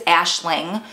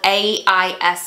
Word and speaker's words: Aisling: Sometimes I thought they were saying Ashley, so I think it's Aisling. It's spelled A-I-S-L-I-N-G, but I think they were pronouncing it Aisling.